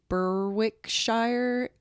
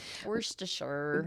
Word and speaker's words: Berwickshire: Tech was transported to Berwick Shire Scotland Berwickshire probably worst assure moist assure with the rest of